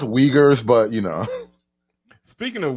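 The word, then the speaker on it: Uyghurs: It's pronounced wagers.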